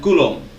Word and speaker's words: Coulomb: Coulomb, esse B é mudo, né? Coulomb.